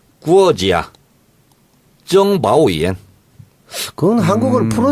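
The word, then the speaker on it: 国家情报院: 국가정보원은 중국식 발음을 이렇게 합니다. 어떻게 합니까? 구어지야. 정바오이엔.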